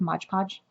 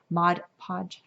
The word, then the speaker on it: Mod Podge: dropping the name but like modge podge that kind of stuff Mod Podge I always get the name wrong I was caught Mod